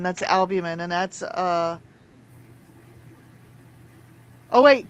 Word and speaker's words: albumin: It's the U R I can't pronounce it U L B U M I N. Albumin? Random random ratio. Yeah. Albumin is your liver.